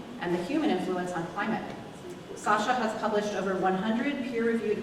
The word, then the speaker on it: Sasha: So, yeah, name is pronounced Sasha, but it's written because I'm from this part of the world where they speak like this. And, Sasha is nickname for.